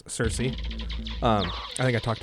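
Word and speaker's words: Circe: I think I've mentioned how her name's actually pronounced. It's Kirka or Kirki, I believe, but uh, it's often translated as Cersei.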